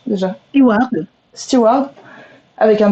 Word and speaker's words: Steward: Pour ceux qui ne te connaissent pas, donc tu es Stewart, comment on prononce déjà? Steward.